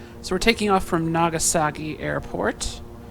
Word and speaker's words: Nagasaki: So we're taking off from Nagasaki Airport. Nagasaki Airport. It's got a K, not a G, despite my American attempt to pronounce it differently.